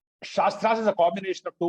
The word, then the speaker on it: shastras: a tra right so whenever we use a vowel with capital letter it means it has to be pronounced long right so shastras right so that's a